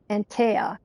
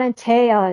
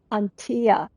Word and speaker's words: Antea: Antea. Because it's like unusual. It's not Antea, it's Antea. It's like ant and tea, Antea.